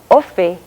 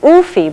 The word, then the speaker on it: ofi: And so you'll have the word for dog, which is spelled U-F-I and pronounced Ofi, is often misread as Oofy by the English speaker who doesn't know what they're doing.